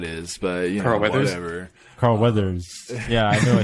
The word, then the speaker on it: Weathers: for Arnold Schwarzenegger's or uh Stallone's or Carl Matthews I don't know who that is but yeah whatever Carl Weathers yeah I know I said that last name